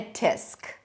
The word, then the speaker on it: tsk: And you call it a tisk.